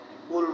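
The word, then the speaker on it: قل: এখানে কলকলার হরফ আসছে। কফ। কফ উচ্চারণ করার সময় একটু ধাক্কা দিতে হবে। এখানে কুল বললে কাফ হয়ে যাবে। এজন্য কফ উচ্চারণের সময় একটু ধাক্কা দিতে হবে। কুল কুল কুলহু আল্লাহু হু আল্লাহু কুলহু আল্লাহু আহাদ।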